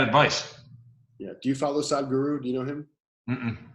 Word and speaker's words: Sadhguru: is spelled Sad, S-A-D, Sad H Guru. Sadhguru is how you say it, but it's spelled Sad H Guru.